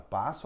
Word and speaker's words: passo: Na palavra passo, a primeira sílaba é pá. Eu estou falando do som, viu, gente? Estou falando de letra. Pá, esse é o primeiro som.